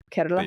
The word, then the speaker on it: Kerala: You know, they they nimly roll that R as as one does as a native southern Indian speaker. Kerala. Yeah. Carerala.